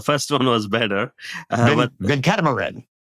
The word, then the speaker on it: Venkataramanan: But Venkataramanan. Venkataramanan. Ramanan. See, I lost one. There's one syllable less. But what you said was actually a common name. It's just that mine has one extra syllable.